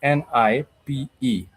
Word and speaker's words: nipe: you might say nipe, N-I-P-E, N-I-P-E. It's nipe. And when you say nipe, nipe means give me, give me. Nipe. It's just two syllables, but it means give me.